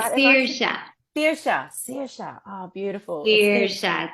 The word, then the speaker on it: Saoirse: Hi, it's Saoirse. Saoirse. Oh, beautiful. Saoirse. So think like Irish a seer and a shaman.